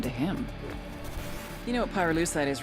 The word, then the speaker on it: pyrolusite: him you know what pyrolusite is right yeah now they did i Pyrrha lucite key syllable pyro by the way is the